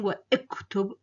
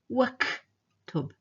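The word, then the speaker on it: واكتب: So you see the Hamza here is silent. I'm not saying wa iktub or wa uktub. I'm saying waktub.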